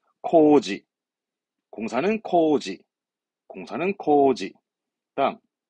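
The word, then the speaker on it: 工事: 공사 발음은 코지, 공사는 코지, 공사는 코지.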